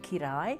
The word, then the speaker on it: Kiraly: Suzanne, pronounced Kirai in Hungarian.